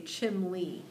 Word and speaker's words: chimney: top of your house they would say chimle with an l sound so it's a slightly